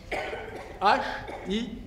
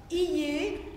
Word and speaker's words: hier: H-I-E-R. Je ne prononce pas hier, comme dans cahier, mais hier.